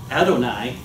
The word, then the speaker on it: Adonai: And so you would have to pronounce it Adonai, and you could not take the name, the sacred name of God in vain, because you didn't say it.